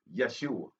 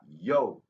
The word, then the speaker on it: Yeshua: So that is Yeshua, not Yoshua, Yahshua, because it comes from the root Yahshua.